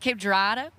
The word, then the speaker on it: Cape Girardeau: Cape Girardeau?